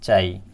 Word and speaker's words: chi: Pronunciation इसका क्या है? चाई।